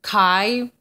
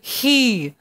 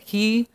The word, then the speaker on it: chi: In ancient or classical ways of speaking, they'll call it chi. Oh, gross. But it's really he, is how you say it, he. Or sometimes people say key, like in my favorite video game, Kingdom Hearts.